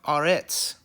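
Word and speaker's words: ארץ: and then we have Aretz, okay, which is spelled A-R, and then the tzadi on the end makes the TS sound, Aretz, okay?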